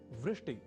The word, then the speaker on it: वृष्टि: एक शब्द है वृष्टि या वृष्टि, पर कभी कभी हम